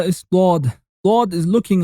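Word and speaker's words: ضاد: It has a D sound like the D of dot, but its place of articulation is different than that of a D. It is pronounced by placing one side of the tongue on the molar teeth on the backside.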